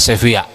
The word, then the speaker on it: Sevilla: apa di sevia ini lisan Spanyol tulis Sevilla bacanya sevia ya Apakah dulu seperti ini